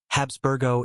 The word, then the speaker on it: Habsburgo: Habsburgo in Spanish pronunciation.